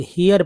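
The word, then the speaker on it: hair: जैसे देखिए यहाँ पर दोस्तों आप देख रहे हैं हेयर, जी हाँ, हेयर है। एक तो हेयर, हेयर जो है उच्चारण में ही आपको कुछ लोग हियर पढ़ते हैं, हियर नहीं, हेयर।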